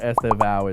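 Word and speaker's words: Estêvão: Estevan is 3 syllables.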